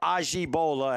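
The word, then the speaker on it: Ajibola: 11 on the reception that's Stephen ajabola or Aji Bola as he pronounces it nice pack from brown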